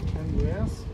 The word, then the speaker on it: Andreas: what was your name andreas andreas andreas andreas we will use the estonian version andreas can you all